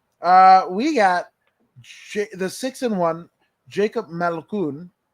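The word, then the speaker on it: Malkoun: We even learn how to pronounce his name correctly. So it's Malkoon.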